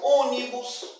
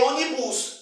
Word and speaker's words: ônibus: fortemente na palavra é a antes da penúltima sílaba o exemplo ônibus lembre-se da palavra ônibus ônibus ônibus ônibus não é Unidos de ônibus é ônibus Então esta palavra ônibus ela é